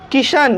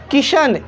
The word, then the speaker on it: Kishan: तो हम लोग यहाँ पे देख रहे हैं कि जो नाम वाले आई हैं, जो नाम वाले आई हैं, वो आई ई की ध्वनि देती है।